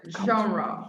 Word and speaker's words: genre: very hard to pronounce well genre french yeah like entrepreneur yeah